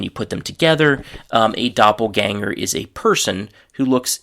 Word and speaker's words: Doppelgänger: So, the first word is German word Doppelgänger, and in English the pronunciation is doppelganger.